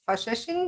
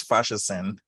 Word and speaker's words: Faseesin: really excited to have my new friend bob's fashion no no i pronounced it wrong tell me how do you pronounce your name again bob it's bob's fascism thank you saying now righty and bob's is